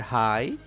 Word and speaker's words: high: In this word high, GH is silent.